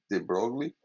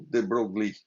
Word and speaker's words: de Broglie: Por outro lado, a gente viu na aula passada, a partir da ideia de de Broglie, de Broglie, deixa eu comentar aqui sobre isso.